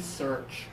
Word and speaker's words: search: then this one here with the lips forward and open search can you feel the difference between her her search